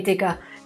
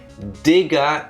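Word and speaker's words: Digga: Also, no, there's an A at the end. No R. It is D I G G A.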